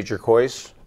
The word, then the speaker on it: Jurkoic: Yes, I'm Jurkoic. That's pronounced like turquoise with the J.